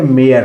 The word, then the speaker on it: mare: इसी तरह MARE, इसको पढ़ेंगे, मरे नहीं पढ़ेंगे, इसको पढ़ेंगे मेयर।